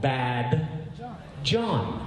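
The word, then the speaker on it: badjohn: But it sounds like Ba-John. But it's not just Ba-John. It's actually, if you had to phonetically break it down, it's actually called Bad John. That man is a bad John. But just like the movie Django, the D is silent.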